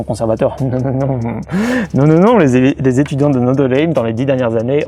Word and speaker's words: Notre-Dame: Donc là c'est l'université catholique de Notre-Dame. Les Américains prononcent Notre Dame, mais bon c'est Notre-Dame, mais on va dire Notre Dame, parce que c'est comme ça qu'ils le disent.